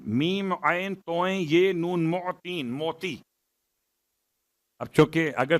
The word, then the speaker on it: معطین: ان میں سب سے بہترین۔ یا خیر المعطین، معطین، میم عین توئیں یہ نون، معطین، موتی۔ اب چونکہ اگر تلفظ میں غلطی ہو جائے تو بات کہیں